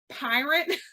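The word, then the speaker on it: PYRT: called and it's p-y-r-t pronounced pirate like I'm about to steal all your he's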